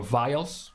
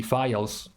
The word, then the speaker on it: vial: the options for your vials in case you're not aware the files or vials I heard you can pronounce it either file or vial anyways that thing right